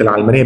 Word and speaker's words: العلمانية: التعريب خلص الى فكرة العلمانية بفتح العين مش بكسر العين، لان هي مصدر الكلمة